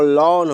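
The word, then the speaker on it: lawn: अब जैसे एल ए डब्ल्यू एन, एल ए डब्ल्यू एन, तो लॉन हो गया, क्या हो गया, लॉन, ठीक है। ए वाई का उच्चारण, ए वाई, तो ए वाई कहीं रहता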